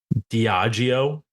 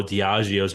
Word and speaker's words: Diageo: Diageo. Actually, I think that's actually how you pronounce it.